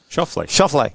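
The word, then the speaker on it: Schauffele: And now Shoffley, how do I say his name again? Shoffley. Got it right the first time.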